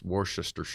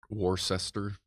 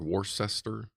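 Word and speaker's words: Worcestershire: speaking folks give up Americans can't even pronounce War sister War sister I always say War sister Shire but war sester is that a sauce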